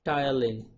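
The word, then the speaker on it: ptyalin: acted upon by salivary amylase also called as tile in T is silent okay it's also called as styling at a pH of about 7.5 and it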